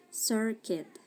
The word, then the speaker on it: circuit: Tapi di sini si U-nya silent. Ini juga u-nya silent. Jadinya bacanya circuit, basket.